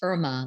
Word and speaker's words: Irma: It's Irma, like Irma Ladouce, Irma Bombeck.